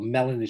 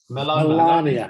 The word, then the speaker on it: Melania: Channing Tatum, the actor, is it Melania Trump or Melanie Trump? How do you pronounce it? Melania.